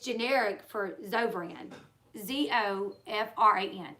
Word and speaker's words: Zofran: It's actually pronounced Zovran, I think. And the way that I say it is Zovaran.